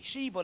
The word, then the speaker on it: Shiva: You find the Christ stuff if you get the stuff on the god Shiva, Siva, S-I-V-A, Shiva, they pronounced it.